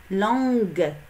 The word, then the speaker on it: langue: Langue. Ici, on a ajouté le U pour prononcer G.